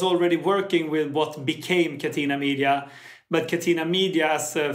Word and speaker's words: Catena Media: And I think you moved there because of, I want to say this correctly, is it Catena Media? It's actually the good pronunciation.